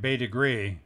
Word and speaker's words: Bete Grise: america here we find bay degree as the locals pronounce it another example of former